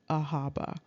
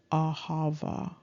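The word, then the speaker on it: אהבה: see ahaba but interestingly this is not really pronounced ahaba it has that bism going on and the actual pronunciation is ahava or or ahaya okay and so this is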